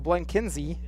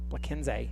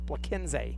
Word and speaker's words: Bleckenz: That'll bring up Art Turo Blankenzy. Bleckenz. Sorry. And I apologize. I found out before the game that I had been saying it wrong all along. It's Bleckenz.